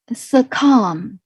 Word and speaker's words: succumb: them check them out succumb succumb as you see see you and be succumb so here you pronounce like a and b cannot be pronounced and yeah keep silent for b and such as climb